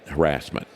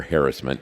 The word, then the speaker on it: harassment: ad hoc committee on, originally they said harassment, or harassment, depending on how you want to pronounce it.